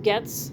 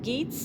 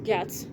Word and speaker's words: Getz: Last name, Getz, pronounced Getz, not Geets, like someone tried to say on here. That's actually the first time I've ever heard anyone pronounce gets like that. I've heard it pronounced goats. Good golly. I don't have any goats, but I have some sheep I can sell you. Okay, so yeah, it's not pronounced geets. Okay, it's gets.